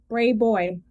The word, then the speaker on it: Brayboy: Spell it one more time. Braybow. Brayboy. Brayboy.